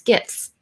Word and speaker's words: GIF: And we have Mike Alton who says it's GIF with a hard G.